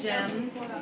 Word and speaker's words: gem: she might have a gem as piece of her jewelry. Gem has the J sound at the beginning. J. So make that sound J. And say that word gem.